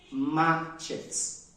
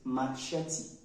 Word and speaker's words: machete: here it is not matches no it is Machete machete all right it is